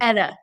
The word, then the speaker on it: ETTA: um let's talk about ITA am I pronouncing that right ITA or ETA your company ETA like a he's like the name Etta James what okay who I